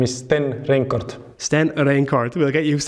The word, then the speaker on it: Sten Reinkort: hi pleased to be here my name is Sten rort Sten rort we'll get used to pronouncing that I'm sure H so welcome to